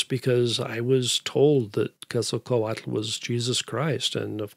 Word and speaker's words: Quetzalcoatl: The Aztec pronunciation is Quetzalcoatl, and I think my children are about the only ones that ever learned how to do it that way.